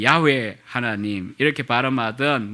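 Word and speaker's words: 야훼: 하나님의 이름이 무엇이냐 하면 여호와 뭐 여의도에 계신 목사님은 평생의 야외 야외 그 동네 야외 그랬는데 어 이상하다 생각하시면 안되구요 원래 제 발음이 그게 좀 더 정확합니다 이 야외 하나님 이렇게 바람 하던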